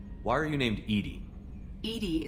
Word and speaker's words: EDI: are you named Edie Edie is the phonetic pronunciation of EDI that is an acronym for enhanced defense intelligence are you getting along with Joker mr.